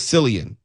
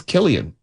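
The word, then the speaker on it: Cillian: I guess it's Killian with a C.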